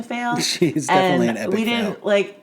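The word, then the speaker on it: Faile: She's definitely an epic fail. We didn't realize that's how you were supposed to pronounce her name until years after reading her as Fail.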